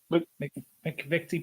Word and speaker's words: McVitie: McVitie Biscuit.